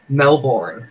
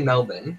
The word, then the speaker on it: Melbourne: the city that's inside of my state because Americans say Mel boring it's we pronounce it is ya know you're pretty good at it yeah we say Melbourne but it's written as though it's pronounced no